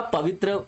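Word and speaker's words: Pobitora: पवित्रा जो आपका पवित्र यहां बोलते हैं, वहां पे जो प्रोनाउंसिएशन पवित्रा बोलते हैं, तो पवित्रा जो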